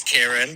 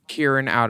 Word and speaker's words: Kieran: So, drag name is, like Ty, and my boy name is Kieran, but it's spelt the same way, so it can get confusing. But yeah, in drag, Kieran out. in drag, Kieran out of drag.